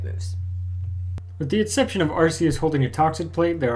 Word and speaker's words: Arceus: Also, if you're about to leave us a YouTube comment to tell us that it's pronounced Arceus and not Arceus, you knew who we were talking about, and the point is moot.